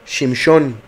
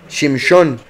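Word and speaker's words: שמשון: Shimshon. Shimshon. O sea, se escribe igual, pero se pronuncia en la Shin como Shin en vez de como Sin. Sazón, Shimshon.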